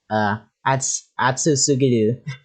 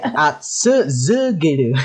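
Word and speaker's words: 暑すぎる: And I remember we were practicing one time, and and I said something like atsu sugiru, and he said, "No, you're saying it wrong. It's z." Say atsu zugiru.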